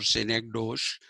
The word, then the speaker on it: synecdoche: Okay, you will tend to pronounce that as synecdoche or synecdoche, but the actual pronunciation is synecdoche.